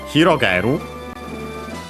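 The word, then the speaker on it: 広がる: Hirogaru. Uh On its own, unaccented.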